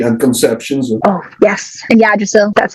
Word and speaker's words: Yggdrasil: Yeah, Yggdrasil. That's how you pronounce it.